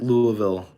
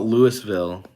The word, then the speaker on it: Louisville: Ryan Nodal says, how do you pronounce Louisville? I think that's what I just said. I think that is the correct Louisville. I used to call it Louisville.